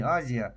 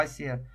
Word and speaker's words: Азия: Африке по всей Азии а правильно говорить Асия вот на по-моему на англоязычных картах до сих пор на некоторых сохранено истинное название не Азия а Асия вот также ж вся